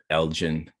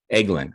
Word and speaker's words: Eglin: think it was uh elgin is it uh uh elgin um uh florida probably pronouncing that right i don't think that's uh eglin i'm sorry it's eglin air force base in